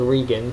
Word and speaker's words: Regan: And they determined that the Chief of Staff, Donald Regan, which is spelled like Reagan but without an A, or without a first A, and National Security Advisor Admiral John Poindexter were to blame for what had happened.